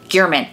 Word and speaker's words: German: for the review journal his name is Jeff gearman it's actually spelled German as I'm reading articles I'm like why are they calling this man the German it's not it's gearman but spelled like German initially there were like